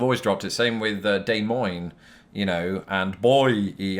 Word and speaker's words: Des Moines: it's Boise you know Des Moines was another one in two instances is day and in Moines and you know I have been very diligent about not not pronouncing it that way I have heard people